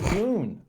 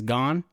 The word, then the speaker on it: Gon: Had the show had like the sub not pronounced his name right as Gon, I would have called him Goon.